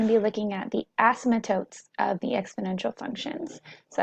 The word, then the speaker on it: asymptotes: be looking at the asymptotes of the exponential functions. So that's that word I mentioned in that last video. If you didn't know, the P is silent, you do not pronounce it.